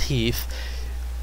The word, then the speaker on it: HEIF: update included, so this new codex, you know, pronounced HEEF, makes it so that the videos and the